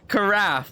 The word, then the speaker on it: carafe: Carafe, like cut without the T and rap from giraffe.